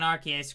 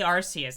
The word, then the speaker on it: Arceus: Legends Arceus triangle strategy he actually pronounced Pokemon Arceus correctly thank goodness if so many people say Arceus and it's like officially actually is Arceus no blades the best